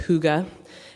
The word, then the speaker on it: hygge: It's pronounced hygge, and it's Danish.